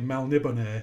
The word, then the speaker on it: Melniboné: Apparently, Melniboné is the correct way of Yeah, pronouncing it.